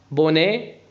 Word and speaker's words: bonnet: Un petit bonnet rouge. Un petit bonnet يعني طاقية صغيرة لونها روج. حرف التي في آخر الكلمة لا ينطق.